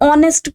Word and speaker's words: honest: An honest person. Obviously it begins with o. Though it is beginning with with letter h but h is silent over here.